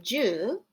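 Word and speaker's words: 十: get the number nine the number ten is pronounced ju and think of that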